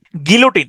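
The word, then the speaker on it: guillotine: graffiti বাংলাও হচ্ছে graffiti গিলোটিন এই শব্দটার উচ্চারণ হচ্ছে গিলোটিন এটাকে আপনি উচ্চারণ করতে পারেন এভাবে গুইলোটিন গুইলোটাইন গুইলোটাইন জি ও জি ইউ আই এল গুইল লোটাইন এল ওটি আই এনই গুইলোটাইন গুইলোটাইন হ্যা বা গিলোটিন গিলোটিন মানে হচ্ছে এটা এটা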